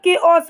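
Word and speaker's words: chaos: मतलब अवस्था क्या बोलेंगे सॉरी कॉस नहीं बोलेंगे ओस बोलेंगे इसका मतलब होता है अवस्था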